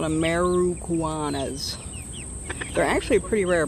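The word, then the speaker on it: Ameraucana: it properly i guess everyone thinks they're called americanas that's not what they're called they're called ameruguanas they're actually a pretty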